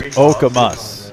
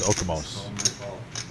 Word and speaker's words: Okamus: Oh, it's Okamus. Okamus. Thank you, Terry. I thought it was Okamos. Been saying it wrong my whole life.